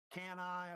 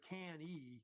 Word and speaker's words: Cannae: It's kind of debated about the saying of the name. Cannae, I've heard also Can-ee, I think pronounced also that way as well.